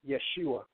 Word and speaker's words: Yeshua: the term or name Yeshua as it is pronounced in the Aramaic he wants to tell